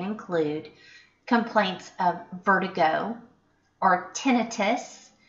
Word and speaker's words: tinnitus: complaints of vertigo or tinnitus you may also hear that pronounced tinnitus complaints of pain especially